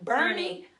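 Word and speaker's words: Boerne: So this is my guest Lisa, and we are here, and I'm in our home in Bernie, Texas. We mispronounce everything.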